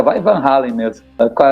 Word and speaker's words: Van Halen: Primeiramente é Van Halen, a pronúncia certa é Van Halen. Van Halen é como os americanos chamam ele, mas o certo é Van Halen.